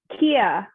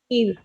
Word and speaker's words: kheer: And Kiran said Kia. Now I might have said that wrong. Is that how you pronounced it? Sorry, was it Kiran? Kia. Kheer.